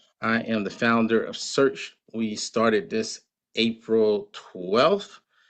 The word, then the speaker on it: Shurch: I am the founder of Search. We started this April 12th. Search is spelled SHURCH, but search kind of like everybody's searching for something, right?